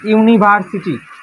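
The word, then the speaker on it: university: ইউনিভার্সিটি। ইউনিভার city. ইউনিভার্সের উচ্চারণটা দেখি। এখন এই ইউ এর উচ্চারণটা কিসের মত হচ্ছে? ইউ।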